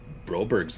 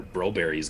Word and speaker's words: Broberg: I know it's Broberry back home, but we can go Broberg because we're Anglophones that like to butcher European names around here.